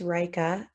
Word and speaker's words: Rika: But we have Rika or Rika. Feel free to correct me if I'm saying your name wrong. Please unmute and ask your question. Hi, thanks. It's just Rika.